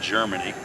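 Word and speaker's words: Jermani: r m a n i waiver but it's pronounced Germany she makes her first free throw it's four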